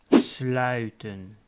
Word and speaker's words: sluiten: To close a door, closing, is sluiten. Again, that ui sound.